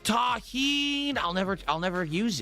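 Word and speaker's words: tahini: It's pronounced taheen.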